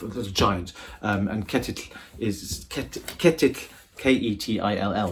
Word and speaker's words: Ketill: Ketill is Ketill, K-E-T-I-L-L, looks like kettle, but it sounds like Ketill, and it's the sound at the end where you get the double L together, the 2 L's together, which I'm fascinated by because it's pronounced by closing the tongue around the inside of the gums and then releasing it on one side.